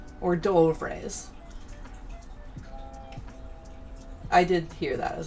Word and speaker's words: hors d'oeuvre: You don't say hors d'oeuvres. Like, or d'oeuvres.